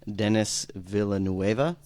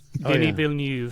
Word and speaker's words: Denis Villeneuve: probably gonna mispronounce this, Denis Villeneuve. Denis Villeneuve. Did Denis I- Villeneuve? Yeah. Yeah. Oh, is Good it, I pick, though. completely. It's not even Dennis. Okay, it's French or something.